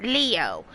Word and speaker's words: Leo: most vulnerable leo ayanokoji it's written with the kanji for lion to be sure but it's pronounced leo i wager you're impressed